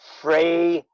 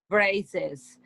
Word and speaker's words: phrases: So when we have a plural that also has an S in the word, we change the first S to sound like a Z. So phrases, Phrases.